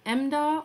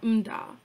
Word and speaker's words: Mda: one syllable zakes and his last name is pronounced either emda or umdah i heard it both